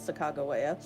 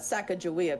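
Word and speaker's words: Sacagawea: but I'm pretty sure the actual pronunciation of her name is Sago waya as opposed to the Americanized sacka jaia coins yeah the the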